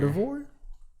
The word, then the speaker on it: Gardevoir: Gardevoir?